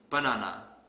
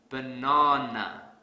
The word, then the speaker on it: banana: program here's another example let's say I pronounce this word as banana this is incorrect because I don't stress the second syllable so to fix this I will stress the second syllable really hard banana banana the sad silly but